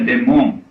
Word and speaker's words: daemon: burro de marca porque a palavra Daemon se escreve Daimon grego e se pronuncia Demon quer dizer só espírito